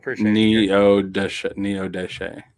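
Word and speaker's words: Neodesha: She said you mispronounced it, but it's spelled right. Oh, okay. Thank you. It's Neo Deshe.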